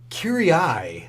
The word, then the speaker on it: Kiri-Ai: right, Chris, first up, let's start with Kiri-Ai, the Duel, if I'm pronouncing it anywhere near close to correct.